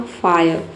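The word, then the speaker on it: fire: फायर से समझते हैं। ए का हो गया फ। आई का हो गया अ। और आर ई का हो गया। आई को हम यहां पे आई पढ़ेंगे। आर ई का हो जाएगा र। ठीक है? आर ई को यहां पे र कर लेना है। आधा र होगा। आप समझ सकते हैं। तो ये हो जाएगा आपका फायर।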